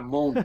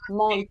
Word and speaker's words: Mond: Der Mond. Der M-O-N-D. Mond.